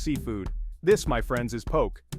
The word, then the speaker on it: poke: This, my friends, is poke. Poke, pronounced poke, is a Hawaiian sushi bowl.